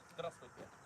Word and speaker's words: Здравствуйте: Здравствуйте.